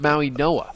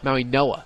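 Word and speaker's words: Mauigoa: Maui Noah with an N. With an N. Yes. It's a silent G replaced by an N.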